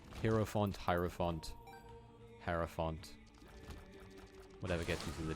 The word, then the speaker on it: hierophant: meant to like the hierophant until i the guy say it herrio font i sort of like change how i pronounce it like hero font hierophant whatever gets into